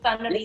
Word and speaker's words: Sornnarin Tippoch: So I'm here joined by Sornnarin Tippoch. Is that how I pronounce it? Yes, Sornnarin Yes.